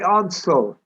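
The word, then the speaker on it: Ordsall: they pronounce it they're they're pronouncing odds yeah odds are the locals call it oddsso yeah yeah um you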